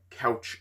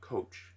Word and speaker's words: couch: to point out the the phrasing is i couch it not coach it's not coach it's spelled with you not an a you know who you